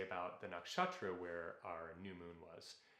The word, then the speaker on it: nakshatra: for leo awesome so i have a really hard time with the word nakshatra i said it right for the first time if you want to say it a little different you can roll the r because that's what you're supposed to do in sanskrit yeah you got it